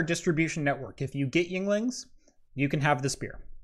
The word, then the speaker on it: Yuengling: Well, last year they partnered with Hershey's to release a porter, which usually Yuengling's only has one beer, which is their lager.